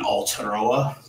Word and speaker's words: Aotearoa: people in New Zealand, and Aotearoa, to be specific about it. That's Māori pronunciation of the country.